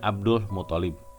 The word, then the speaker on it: Abdul Muthalib: Jadi kakeknya Abdul Muthalib. Ya, ini yang betul ya. Saya barusan ada kesalahan pengucapan.